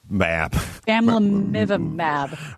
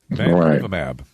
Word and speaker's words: bamlanivimab: Bamlanivimab. Right. Here's how it's said. Sorry. Bamlanivimab.